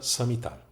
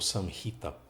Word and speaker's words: Samhita: Pradipika e o Geranda Samhita, ou Samhita, como alguns pronunciam, né?